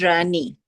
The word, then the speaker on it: Ranie: Is it Rainey or Ranny? My name is Ranie.